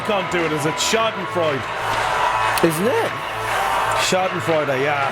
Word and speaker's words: Schadenfreude: It took me a long time to pronounce the word Schadenfreude. And you still can't do it, is it? Schadenfreude.